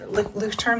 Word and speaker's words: Leuchtturm: And what I like, Leuchtturm, this is how you pronounce or how you spell it.